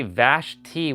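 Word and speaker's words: Vashti: yeah or just say just say Vash t with just the T and no I just say this is how you pronounce my name Vash t with without the I or you can put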